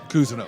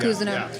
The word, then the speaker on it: Cousino: So I just, like, it's like I said, tomato, but the real pronunciation is Cousino. Cousino. Yeah, Cousino.